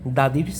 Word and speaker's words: the: অর্থাৎ দায়ের পরে যদি কখনো কনসোনেন্ট কিংবা কনসোনেন্ট সাউন্ড সংগঠিত কোনো শব্দ এসে থাকে, তখন আমাদের দায়ের উচ্চারণটা দা হবে। আর দায়ের পর যদি ভাওয়েল কিংবা ভাওয়েল সাউন্ড এসে থাকে, সেক্ষেত্রে আমাদের দি হবে।